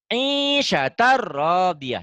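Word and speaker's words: عِيشَةٍ رَّاضِيَةٍ: Ah, berarti isyatan bunyi N-nya jadi apa? Bunyinya ro itu. Ah, gimana? Isyatan. Jadi, Isyatar. ya, Isyatar. Iya. rodiyah panjang. Isyatar rodiyah. Coba.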